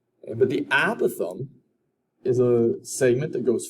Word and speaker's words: apothem: fancy new name and it is spelled a p o t h e m i'm going to say it is apothem but i've heard people put that emphasis in different parts of the word but the apothem is